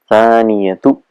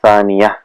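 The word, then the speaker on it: ثانية: o'clock, we'll say as-sa'atu thaniyatu. So normally when you're talking, the ta marbuta is pronounced as ha. We say as-sa'atu thaniyah or as-sa'atu wahida. So that's how it's normal in colloquial where it's said, but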